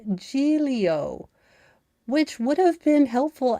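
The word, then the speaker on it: Giglio: New York Post, you are an is pronounced Gileio, which would have been helpful as a pronunciation guide at the beginning of the GD article, you jackasses.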